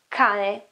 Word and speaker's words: cane: it's not chane, it's cane. Or again, house, it is casa, casa, k, casa, cane. You can see that it is k, it's not ch.